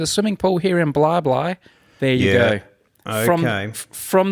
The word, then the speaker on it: Bli Bli: of bly bly i actually thought it was bleebly but i went and did some research and found out it's pronounced blah blah and how do you spell it bli bli